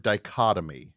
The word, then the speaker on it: dichotomy: say you're probably trying to say the word dichotomy no it it's I looked it up it's spelled d-i-c-h-o-t-o-m-y that well that definitely is the